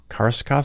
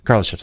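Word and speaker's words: Kardashev: And then I don't know how to pronounce the name, the Kharlamov scale, is that? Kharlamov scale. Kharlamov.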